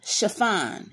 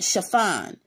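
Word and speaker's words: Shaphan: asa the son of chiffon and that's spelled s-h-a-p-h-a-n chiffon and jeremiah the son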